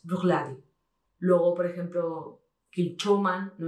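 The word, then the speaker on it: Bruichladdich: Si fijáis, al final casi ni se nota, es Brookladdich.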